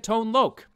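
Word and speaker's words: Tone Lōc: Rain Plus special appearances by Sheila E and tone loke and yes that is how you pronounce his name I know this because I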